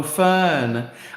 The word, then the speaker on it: Fern: It's pronounced fem like the plant. Oh, Fern.